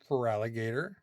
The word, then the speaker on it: Feraligatr: Feraligatr, which they were short characters back in Gen 2. That's why it's G-A-T-R, but Feraligatr. Feraligatr. It's Feraligatr.